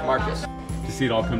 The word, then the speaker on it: Marquez: we are standing in marcus hall it is a building of learning and education it is a place where students just want to be as you can see it's pronounced marcus to see it all